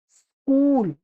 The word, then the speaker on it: स्कूल: सही उच्चारण तो इसका यही होगा, स्कूल।